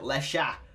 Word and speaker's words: Lexa: i did bro apparently the x itself x in portuguese sounds like sha or like sha apparently well i mean obviously because her name apparently obviously you pronounce it lesha so that it yeah